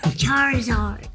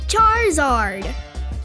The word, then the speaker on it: Charizard: Charizard.